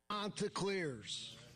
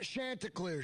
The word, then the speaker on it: Chanticleers: Jen, do we have the clip from Coach telling us how to correctly pronounce the Coastal Carolina mascot? Chanticleers. Not Chanticleers, Chanticleers. So, we have been talking Coastal Carolina, Chanticleers.